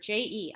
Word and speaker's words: je: So look at that first word, J-E. I'm saying je. It's kind of got like a Z sound in it even.